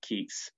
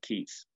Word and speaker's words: Keats: and good you know the name keats doesn't rhyme with geeks life is admittedly sometimes